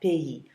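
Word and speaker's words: pays: is a bit strange even though it's spelled p a y s you do pronounce it like that PE so the country a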